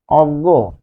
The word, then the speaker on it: অজ্ঞ: আবার দেখুন বর্গীয় জ ইয় রয়েছে, তাহলে বর্গীয় জ ইয় থাকলে এটি লাল কালিতে লিখি গ, গো, অজ্ঞ। তার মানে বর্গীয় জ ইয় এর উচ্চারণটাও আমরা এখানে শিখে গেলাম।